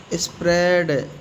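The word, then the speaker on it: spread: स्प्रेड। स्प्रेड means फैलाना। एस पी आर ई ए डी। स्प्रेड। A silent.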